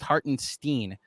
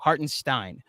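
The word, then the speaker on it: Hartenstein: that this happened also according to jaden it's pronounced heart and steen okay heart and stein i even read it wrong hardened stein that's what i thought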